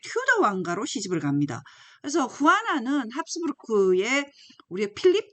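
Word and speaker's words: Juana: 끝까지 남는 이제 그 자녀가 여기 보면 후아나라고 있습니다. 후아나. 영어로는 조애나 이렇게 부를 수 있는데 후아나라고 발음을 하고요.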